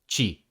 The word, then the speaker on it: te: In Brazilian Portuguese, it's pronounced chi.